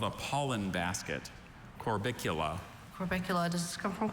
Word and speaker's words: Corbicula: That's the only pronunciation, right? That's correct.